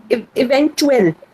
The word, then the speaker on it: eventuell: Eventuell. Event. Second half. Eventual. Yes, sir. Second half.